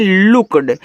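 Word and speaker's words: looked: L double O के ई डी इसे पढ़ते हैं लुक्ड।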